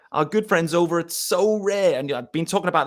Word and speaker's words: Sorare: That's spelled Sorare, which is S-O for so, and rare as in R-A-R-E.